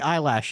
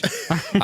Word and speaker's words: Eilish: Billie Eyelash. Yeah, that's it. Okay. Wow. Billie, how do you say it? Billie Eilish. Eilish.